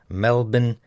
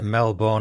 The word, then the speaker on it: Melbourne: mate, a bit of strong pronunciation. Brisbane, Melbourne, Canberra. Says me, so it's not Brisbane, Melbourne and Canberra then.